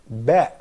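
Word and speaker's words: ب: And the following one is Ba, which is actually pronounced as Ba. That probably could be very close to the sound in English, which is B, probably could be something like that.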